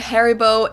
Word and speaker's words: Haribo: and loves hopefully maybe not everyone knew that Haribo is actually German we pronounce it harib yeah now thinking of that